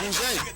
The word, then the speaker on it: bourgeois: You know how they pronounce it in New Orleans, man? Yeah. Bourgeois. That sounds like something they eat like that's the way you're supposed to say that. Yeah, bourgeois is a French word.